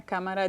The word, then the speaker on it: cámara: Una cámara digital, una cámara de video. 3 sílabas. Cámara. Okay. Where's the emphasis? Cámara. I hear it in the first one. Cámara. So we definitely need an accent, Correcto.